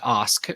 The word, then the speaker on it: Ask: Well, then you've got virtues, which is, this idea of, an impact, what type of, by the way, my last name is pronounced Osk. It's spelled like ask, Okay.